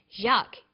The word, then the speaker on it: Jacques: get used to spelling out your name is spelt like this jacques is also an uncommon name in english because